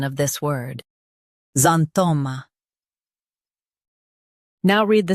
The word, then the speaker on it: xanthoma: Today, we will learn how to pronounce the word shown on the screen. Xanthoma. Both US and UK have the same pronunciation of this word. Xanthoma.